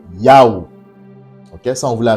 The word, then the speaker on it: Yahweh: Donc la vocalisation, la bonne prononciation du tétragramme sacré, du nom le plus excellent, le plus grand, le plus majestueux du Père céleste, créateur de toutes choses, est Yahweh.